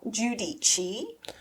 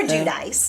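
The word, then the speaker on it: Giudice: So, the scenario is uh Teresa Judichi or Judice depending on how people want to pronounce it. It started off as Judice and at some point changed to Judichi. Yeah. Because it's like the the way that all of America says it and then the way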